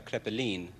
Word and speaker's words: Kreppelin: Well, the full pronunciation is Kreppelin, but it's Kreppelin in English, or Kreppelin I go by.